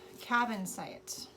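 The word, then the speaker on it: Kyanite: It's pronounced cabin site.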